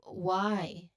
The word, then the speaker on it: why: So here the pronunciation tip is it sounds like I I why. So both terms it uses a dip thong sound, right?